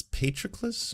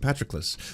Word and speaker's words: Patroclus: Achilles and it's Patroclus or Patroclus? It's Patroclus, I believe. Let's learn how to pronounce properly.